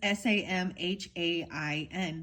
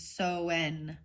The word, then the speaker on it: Samhain: I just read it how it looks like it sounds. It says Samhain, the Hain. But then the pronunciation is Soen.